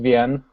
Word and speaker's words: Wein: notices but always stop and go is it ween wine Wayne I've heard it pronounced it's pronounced VN basically the W in German mixer and mix